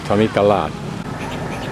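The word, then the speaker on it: Thammikarat: this is wat tamik Tamika lat the r is pronounced as an L Tomy kalad three girls riding on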